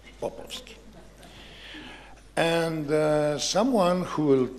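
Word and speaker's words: Poposki: Macedonia Mr Nicola popovski a good pronunciation popovski not popovski popovski and uh someone who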